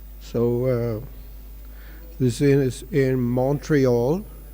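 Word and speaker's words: Montréal: uh this is in Montreal Canada or monreal as the francophone Canadians pronounce it har Krishna more loud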